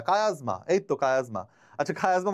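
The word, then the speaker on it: chiasma: মানে আমাকে আর বেশি পরিশ্রমই করতে হয় না কায়াজমা এইতো কায়াজমা আচ্ছা কাজমা বানানটা একটু ভুল হয়েছে সি এইচ আই এস এস এম ঠিক আছে তো হিমোফিলিয়ার অংক করবো আমরা।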